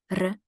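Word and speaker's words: Р: we can retain it re as in the word rocket rocket right so that's how we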